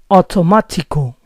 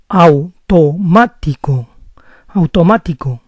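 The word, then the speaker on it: automático: Spanish if I say automatical there are two errors in my pronunciation first of all two vowels in Spanish never form a single new sound it's not a it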